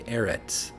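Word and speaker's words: ארץ: And so in modern Hebrew they would say Eretz, but in ancient Hebrew I believe it was Aretz, like the Arava, the Eretz, the land.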